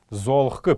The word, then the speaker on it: золгх: Золхк, пишем золгх, но произносить будем мы его золхк.